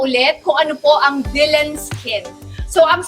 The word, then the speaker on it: DLN: kung ano po ang Dylan Skin. So ang spelling po niya ay DLN pero pronounced as Dylan po siya.